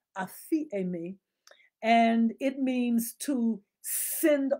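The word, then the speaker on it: ἀφίημι: okay if you forgive yeah it's a me it's spelt a p h e scratch that a p h i e m i a fee a me and it means to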